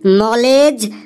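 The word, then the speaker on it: knowledge: স্যার, বোর্ডে ওটা লেখা আছে KNOW, কেন LEDGE, লেডিজ। স্যার, ওটা লেখা আছে কেন লেডিজ। কেন লেডিজ? বাপরে বাপ, কি সাংঘাতিক উচ্চারণ রে বাবা। স্যার, বোর্ডে ওটা লেখা আছে নলেজ, নলেজ মানে জ্ঞান।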